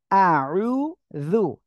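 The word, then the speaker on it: أعوذ: এখন দেখতে পাচ্ছেন আশা করি দেখেন এই যে আউ জু জিহ্বার আগায় দুই দাঁতের আগার সঙ্গে লাগিয়ে উচ্চারণ করতে হবে জু আউজু বিল্লাহি মিনাশ শাইতানির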